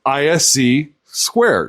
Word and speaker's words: (ISC)²: So, they just took the first letters of all the words for the company said ISC squared.